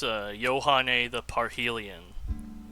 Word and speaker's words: Yohane the Parhelion: Yeah, it's Yohane the Parhelion, by the way.